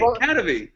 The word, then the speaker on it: Kadavy: Kadavy.